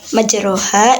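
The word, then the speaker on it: مجراها: hud ayat 41 yaitu cara membacanya dengan mencondongkan bacaan harak fathah ke harakat kas pada per J harakat fathah tidak dibaca harakat fathah lagi melainkan lebih ke harakat kasrahnya jadi pada kalimat majroha itu dibaca majreha Seperti contohnya gini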